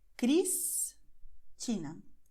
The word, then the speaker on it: Cristina: Quando ela aparece antes de consoante no fim da sílaba, Cristina. Veja que a sílaba termina com a letra S, que tem som de S. Cristina.